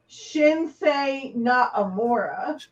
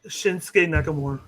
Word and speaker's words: Shinsuke Nakamura: Shinsei Nakamura. Shinsuke Nakamura.